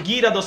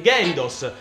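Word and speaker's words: Gyarados: pronuncia e va benissimo Ho detto girados invece che geridos ma sono errori che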